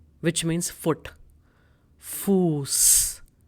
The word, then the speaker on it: Fuß: For S set, we are taking the German word Fuß, which means foot. Fuß. So we have sharp S sound in it.